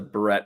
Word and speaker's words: beret: Hampton Consultant says the beret would look better. Maybe that's the better term. The French beret. A beret? A beret. I guess they don't pronounce the last word, do they?